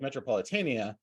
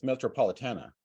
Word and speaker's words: Metropolitana: it is it's um I always say it like metropolitania but it sounds like it's or it's spelled like it's metropolitana how do you pronounce